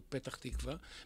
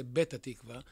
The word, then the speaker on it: Petach Tikva: they should go to Petach Tikva because of miss Perrone and she is pronunciation because the arabic UNS cannot say pay so they say better tikva and instead of being